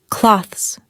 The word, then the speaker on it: clothes: Instead, native speakers usually say clothes. It's quick and ends with a z sound.